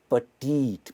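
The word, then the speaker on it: petite: The house is to small, the house is पटीट, pronunciation है पटीट।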